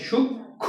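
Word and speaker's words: সূক্ষ্ম: এখন আসো আমরা একটু আগে একটু কথা বলছিলাম না যে শব্দের মধ্যে যদি মফালা যুক্ত থাকে তাহলে সেই মফালাটা তোমার কি বলে সে মফালার কোন উচ্চারণ হয় না।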